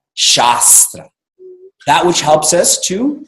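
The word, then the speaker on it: शास्त्र: name and becomes the shasta shasta means scripture and if you don't understand this you make the long a short a and it becomes Shastra what does chester I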